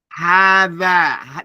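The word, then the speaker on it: هذا: Hada, the ha, you don't write the aleph. You don't write it, but it is pronounced.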